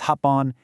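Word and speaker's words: 八本: One is ippon, six is roppon, eight is happon, and 10 is juppon.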